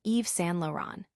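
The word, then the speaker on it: Yves Saint Laurent: Laurent present a multi-art challenge with the correct pronunciation being Eve San Lauron.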